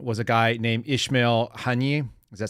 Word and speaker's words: Haniyeh: The gentleman that was, or the individual that was killed in Tehran was a guy named Ismail Haniyeh. Does that sound right? Am I saying it correctly? Haniyeh.